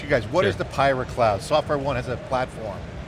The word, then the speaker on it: PyraCloud: So I got to ask you guys, what is the Pyra Cloud? SoftwareOne has a platform, Pyra Cloud.